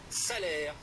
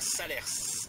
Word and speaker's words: Salers: salaire va vous envoûter la condition de prononcer correctement montceau nos salaires et non pas salers une fois cet écueil